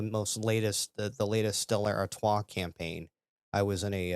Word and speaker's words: Artois: know live the life Artois whatever that nonsense is about so I was taught um actually about my friend Jay um to pronounce it it's still artiste sure it's the proper pronunciation and that actually was